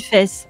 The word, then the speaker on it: Fès: Bon, dans le doute, on va dire que ça se dit Fès. Pardon.